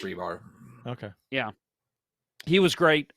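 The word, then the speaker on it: Rybár: right rebar yeah rybar spelled rybar but pronounced rebar okay yeah he was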